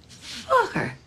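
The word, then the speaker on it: Focker: Oh, just like it's spelled. F-O-C-K-E-R. Fokker. Fokker.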